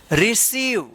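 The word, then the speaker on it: receive: तो इसको ध्यान रखिएगा आई ई या इ आई रहेगा तो वहां पे इ उच्चारण होगा बड़ी ई की मात्रा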